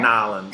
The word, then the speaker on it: New Orleans: I like New Orleans, or Nolans if you're there. Nolans, yeah. Um, I learned how to say it. Nolans when you're there.